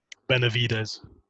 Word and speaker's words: Benavidez: Benavidez.